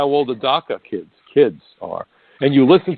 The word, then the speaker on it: DACA: Everyone knows what DACA means, maybe because it rhymes with caca.